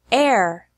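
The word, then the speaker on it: heir: There are also some words that have a silent H in English, such as hour, honor, honest, herb, air.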